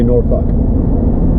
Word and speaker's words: Norfolk: If you're not from Norfolk, like it's spelled Norfolk, so you say Norfolk. But if you're from Virginia, you say Norfolk. Super weird, I know.